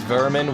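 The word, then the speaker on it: Werman: vermin obviously even though it's spelled wermen it's pronounced vermin which is another word of saying pest like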